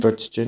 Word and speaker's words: Würstchen: Do you say Würstchen? Würstchen, yeah.